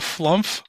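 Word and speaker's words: Flumph: I'm gonna guess a flump. That's right, and that's the correct way to say it.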